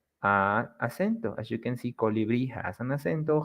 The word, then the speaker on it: colibrí: Like in the examples we have here, colibrí, the strong sound, it's at the end, brí, colibrí, jabón, jabón, borrador, borrador y café, café.